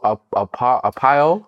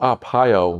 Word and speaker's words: Arpaio: throw a name out there um hopefully i'll pronounce it correctly yeah go for it joe up a pile sheriff joe arpaio pile right so he prided himself on being